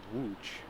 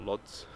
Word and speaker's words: Łódź: in today is called wooch it's spelled lodz i say l l is the uh the polish l which i don't actually know the name of that letter but it's pronounced like a w and the rest of